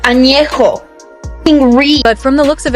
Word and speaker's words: Añejo: you can do is learn how to pronounce the tequilas correctly. Blanca, Reposado, Añejo. What the fuck is Añejo? It's Añejo, puñetas. Añejo.